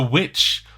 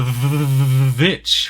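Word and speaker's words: VVitch: at number nine is the witch or the vich right that's how it's spelled robert eger's debut directing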